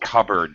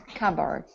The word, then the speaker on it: cupboard: but it's actually pronounced cupboard the p is silent cupboard yeah that's right okay